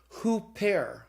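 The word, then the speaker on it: ὑπέρ: sound so for example if you of the word OOP air and then you put the rough breathing on it you pronounce it who pair get accidents on the epsilon but it's who pair so the rough breathing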